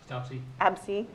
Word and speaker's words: Abse: How would I pronounce? I don't. Absey.